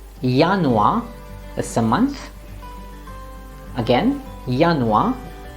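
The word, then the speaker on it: Januar: yest or yaka yanwa is a month again yanua in some international words yacht will be pronounced as ja as in jogen which means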